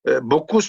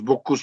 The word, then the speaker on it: Bocchus: inscriptions néopunique par massinissen il y a bokous par exemple on le prononce bokous mais c'est pas ça il doit s'appeler bokou B quelque chose comm ça d'accord je vais vous